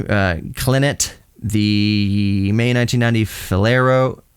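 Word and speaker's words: Falero: clinet the May 1990 fero fero not Fiero f a l e r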